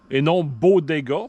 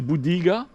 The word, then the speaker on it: Bodega: modèle T50 de Bodega, et non Bodega, parce qu'on ne fera pas de Bodega ici, mais c'est Bodega, la façon de le prononcer que la compagnie veut qu'on le prononce.